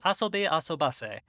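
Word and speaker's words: あそびあそばせ: three whole episodes of asobi asubase which is the correct pronunciation after looking at the hiragana john you dumb piece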